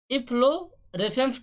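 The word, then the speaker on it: efflorescence: तो इफ्लोरेसेंस test क्या होता है, इसका थोड़ा प्रोनाउंसिएशन में हमें प्रॉब्लम आ रही है। इफ्लोरेसेंस टेस्ट बोलते हैं एक्चुअली में, ठीक है।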